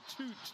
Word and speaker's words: Tut: Charles Wiseman air ball and the dozi off the screen set by Toot. It's spelled tut, pronounced toot.